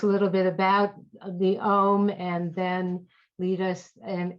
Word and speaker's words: Om: That's what Om actually symbolizes. It's a simple three syllables, actually. Aum is a traditional way to talk about it. It's the traditional way to say it, actually.